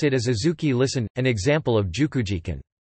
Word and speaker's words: azuki: It is common to write xiaodou in kanji but pronounce it as adzuki.